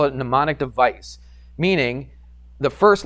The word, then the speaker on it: mnemonic: Mnemonic actually starts with an M. What does that mean? Oh, did I spell it wrong? Yeah, that's it. Mnemonic.